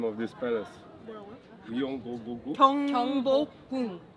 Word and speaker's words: Gyeongbokgung: pronounce the name of this palace? Gyeongbokgung? 경복궁. Gyeongbokgung.